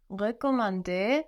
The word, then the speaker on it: recommander: Je peux recommander la voiture. And the RE of to recommend, it's just a normal E. It doesn't have an accent written over it. So how should that sound, to recommend?